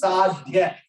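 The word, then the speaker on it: साध्य: Now, Sadhya, there full 100% you have to stress. Sadhya.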